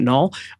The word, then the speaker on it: Nol: Another artist would be Null K, my student Null. So if you look up, his name is spelled Nol, and then the last name is K, or last word is K, letter K.